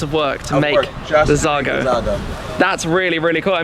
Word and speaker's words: Xago: every single way and i even used to pronounce it incorrectly it's zago it's zagar it's sago zargo not jargon like zigzag saga i must apologize then i've i've only heard it being said wrong it's zargo the zargo svj roadster they're all roadsters all